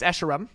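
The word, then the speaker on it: Escharum: to play halo infinite campaign how do you pronounce esheram it's esheram there you go are there kill barriers or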